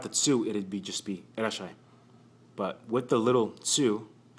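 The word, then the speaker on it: いらっしゃい: The little tsu is to prolong the S sound in the shi. Irashai, shai. Irashai, irashai. Without the tsu, it'd just be irashai.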